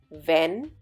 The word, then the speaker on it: wenn: these three words: wen, wenn, wann. Just a few alphabets make the difference in their pronunciation. Do pay attention. In wen, there is a longer A sound, whereas wenn has a short one.